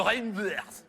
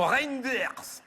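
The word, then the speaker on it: Reynders: C'est monsieur Reinders. Non, Reinder ça se prononce comme ça c'est Reinder. Ah non, là je peux pas vous le passer.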